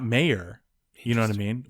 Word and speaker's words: Oscar Mayer: And then the second part was my baloney has a second name. It's Meyer. That's what I thought. But apparently it's Mayer.